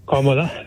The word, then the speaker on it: Kamala: Kamala is pronounced like this.